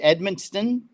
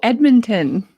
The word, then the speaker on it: Edmonton: actually in Edmonson Ed how do you say Edmonston no Edmonton Edmonton oh there's no s no oh okay uh